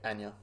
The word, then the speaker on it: Anya: Yeah, Anya.